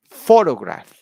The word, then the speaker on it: photograph: the first word yeah the word stress is on the first syllable yeah so you say photograph photograph for raw graph you